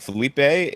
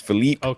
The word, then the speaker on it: Felipe: And not only that, I think Felipe is uh the preferred way I like to say his name because Phipe, which is okay, but I like Felipe.